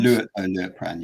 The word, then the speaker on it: Liutprand: Is it Liutprand? Liutprand, yeah, of Cremona, yeah, Liutprand.